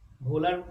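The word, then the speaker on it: Wöhler: তো পরবর্তীতে 1828 খ্রিস্টাব্দে জার্মানির রসায়নবিদ একজন ফ্রেডরিক ভোলার মানে স্পেলিং হবে ডব্লিউ মানে ডব্লিউ উচ্চারণটা তো জার্মান ভাষায় ডব্লিউটাকে ভো করা হয় আর কি।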